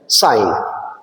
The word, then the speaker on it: sin: लेकिन इसको प्रोनाउंस किया जाता है साइन।